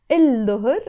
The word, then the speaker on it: الظهر: بعد الظهر, again pronounced as بعد الظهر because the dot is a sun letter.